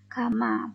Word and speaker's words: gamma: ada simbol seperti ini ini adalah bacanya Gamma Bukan y ya Untuk keterangannya VT yaitu